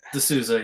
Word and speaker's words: DeSouza: Did I pronounce that right? DeSouza, yeah.